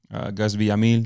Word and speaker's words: Gus Villamil: Gus Villamil. Did I say it right? Yeah, you did.